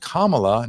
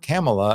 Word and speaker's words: Kamala: correct me and tell me it should be pronounced Kamala not camela as I've been doing I know the correct